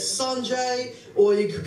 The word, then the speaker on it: Sanjay: If you want to pronounce it correctly, it's Sanjay, or you could call me Sandra if you just don't give a fuck.